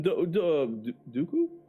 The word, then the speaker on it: Dooku: We got Captain Dooku? Rhymes with poo.